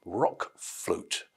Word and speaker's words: RökFlöte: of this new album Rock flute to give it his anglicized pronunciation and um that